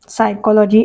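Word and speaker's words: psychology: माहिती पाहिजेथे third option सायकॉलॉजी एसने सुरू होत नाही प सुरू होत सायकॉलॉजी स्पेलिंग हे बरोबर वाटते सायकॉलॉजी इथे येईल second option P एस वाय सी H alloy प सायलेंट आहे डिसी डिसी आणि डिसी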